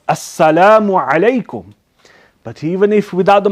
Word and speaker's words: assalamu alaikum: their Salaam but remember the way we give Salam is by saying assalamu alaikum not islamicum you understand by eating up half of the words what is this foreign properly pronounced assalamu alaikum but even if without